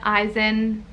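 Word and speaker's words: Izen: name i have is eisen eisen i love this i think that this is so freaking cute very unique i've never met an eisen before but i loved it eisen it's like ivan eisen it's different it is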